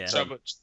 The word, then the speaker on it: Chuba: Is it Chuba? I don't know how to pronounce it. Yeah, Chuba.